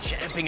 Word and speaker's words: champing: most impressed with there he said champing at the bit not chomping at the bit you